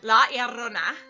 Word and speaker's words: La Llorona: La Llorona.